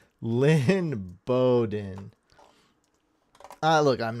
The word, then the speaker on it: Lynn Bowden: you butchered his name dang he's said line balen it's Lynn Bowden I look I'm not